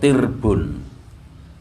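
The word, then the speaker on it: تِرْب: Kata "atra'a" adalah bentuk jamak dari kata "tirbun," yang diucapkan dengan kasrah, " tirbun." Dan "ra" memiliki sukun.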